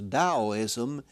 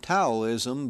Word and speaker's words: Taoism: resistance now you notice I pronounce that as Daoism even though it is spelled with a t it is my understanding that it that is the correct pronunciation of it it is not taoism but Daoism but before